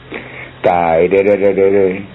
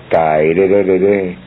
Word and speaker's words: Tairere: Se pronuncia así: Tairere, Tairere, Tairere. Así, medio cantadito.